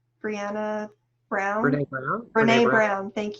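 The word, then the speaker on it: Brené Brown: And I can't think of who said it, if it was Brianna Brown, Brianna Brown, Brene Brown?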